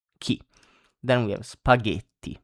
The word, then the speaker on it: spaghetti: key then we have spaghetti G you see like in gate or gusto that we have seen before G spaghetti.